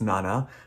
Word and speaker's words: Nana: So my older cat Nana, or Nana, because she's actually named after the manga, so it should be pronounced Nana, but we just call her Nana because it's easier to say.